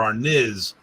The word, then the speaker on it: arnis: because they don't like your pronunciation of the word arness or arnis or our niz which is another way i've heard about it saying and you know tomato